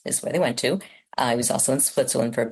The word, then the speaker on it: Hugh: Well, it's Hew. How do you pronounce that?